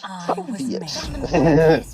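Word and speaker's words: Phoveus: Yes, that is the Fovius with an F, but it's actually a P. But let's not go into this argument again. It's pronounced Fovius.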